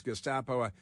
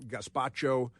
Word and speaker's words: Gestapo: And he can't pronounce Gestapo. I think he called them gaspacho, which is a spicy soup, but that doesn't matter now.